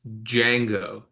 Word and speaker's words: Django: It's pronounced Django.